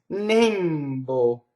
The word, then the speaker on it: nembo: Next, Nembo. This is a stressed E that's closed.